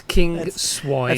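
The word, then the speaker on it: Kingswinford: do you say it king swinford king swim ford swin actually it's where the king used to keep his pigs so it's as in swine so it's king swine it's flattering isn't it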